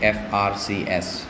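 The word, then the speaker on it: FRCS: this abbreviation we say F RCS we pronounce all the letters individually when you say F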